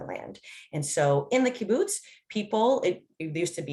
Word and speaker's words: kibbutz: and potentially you could correct me on my pronunciation of caboose i can start that so yeah i